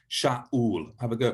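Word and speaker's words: שאול: you pronounce it so the name for saul in the old testament is sha ul do you hear the way that i stopped like um the glock will stop stopping the air coming out sha ul have a girl pronouncing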